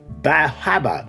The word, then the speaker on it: Bar Harbor: Acadia National Park and Bahaba, as the locals are known to pronounce it, and travel 150 miles